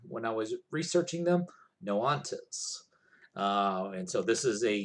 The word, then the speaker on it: Noxantes: group um noantas n-o-x-a-n-t-e-s but i saw that i was phonetically spelled out somewhere when i was researching them no ontos and so this is